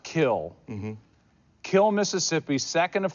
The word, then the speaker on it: Kiln: You grew up in a town spelled K-I-L-N, but it's pronounced Kill.